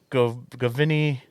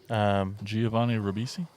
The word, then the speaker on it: Giovanni Ribisi: Govini. Giovanni Ribisi.